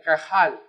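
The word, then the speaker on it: qahal: a h a L no se escribe así así se escribe Castellano pero se pronuncia de esa manera kajal y es la palabra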